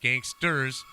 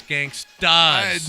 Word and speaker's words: gangsta: judges have said that you didn't pronounce it right it's gangsta no clue as opposed to gangster and they know $3,200